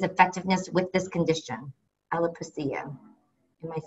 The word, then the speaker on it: alopecia: Alopecia.